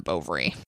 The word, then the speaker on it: Bovary: but we also said Madame Bovary rhymes with ovary thank you you're welcome